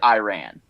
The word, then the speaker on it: Iran: He said Iran, and for philosophers who are saying, well, that's how you say it, it really isn't. Iran is Iran. It's not Iran. It's not Iraq.